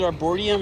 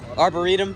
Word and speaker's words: Arboretum: I hope I said it right is it arborium or arborium what is it I still can't freaking say it right Arboretum okay well you can see it's filled in